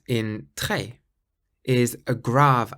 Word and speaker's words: très: The letter E with a grave accent should be pronounced like the E in the English word fed. So if you take the F and the D away, you're left with E. So très.